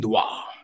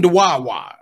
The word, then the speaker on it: dua: Every once in a while, when I'm feeling myself, I put an extra syllable in the word that's not there. I was making dua-wa.